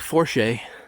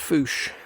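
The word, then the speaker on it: Fourche: with you here's the Belo River looks like forche but it's actually pronounced Foos and I was looking for beds and I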